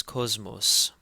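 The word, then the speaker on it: ⲕⲟⲥⲙⲟⲥ: Cosmos Cosmos and again because the first SEMA in the word is followed by a may it takes a z sound so this is Cosmos and Cosmos means world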